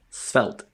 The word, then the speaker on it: Svelte: I mean, that was the perfect pronunciation there. So just maybe like when you talk about it, just stop and say Svelte.